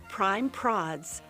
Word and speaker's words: Prime Prods: Prime Prods rhymes with classy broads.